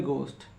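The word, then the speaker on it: ghost: एच ओ एस टी अब देखि एच से पहले ओ आया है तो एच को नहीं पढ़ेंगे इसे पढ़ेंगे गोस्ट ऐसे हम हम लोग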